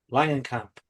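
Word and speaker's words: Langenkamp: say her last name again there please Baron Langan Camp yeah thank you yeah thomps NY Thompson is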